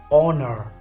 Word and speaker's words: honor: move to number 5 do I say holler or honor which pronunciation is correct now I think you have done like this silent letter is age good so I say honor not honor okay now word number